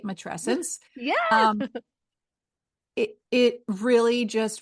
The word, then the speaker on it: matrescence: I'm going to say it right, matrescence.